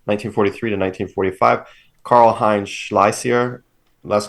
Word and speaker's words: Schlesier: Karl Heinz Schleiser. Last name is spelled Schlesier.